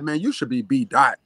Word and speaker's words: BDaht: So the O I changed for the phonetic spelling of A-H, which is ah.